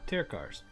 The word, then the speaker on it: Tirkar's: Did you say the name Tirkar's Travelers? So that's how you say it, Tirkar's.